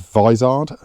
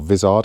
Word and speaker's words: Vizard: head, get yourself the David Vizard, or Vizard, I think he pronounces it Vizard book, Tuning the A series.